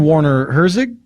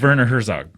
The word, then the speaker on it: Werner Herzog: You mean Warner Herzog? That's The not guy how who you directed pronounce Grizzly? it. It's not? It's Werner Herzog.